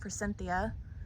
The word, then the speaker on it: Forsythia: That's how you say it, Forsythia.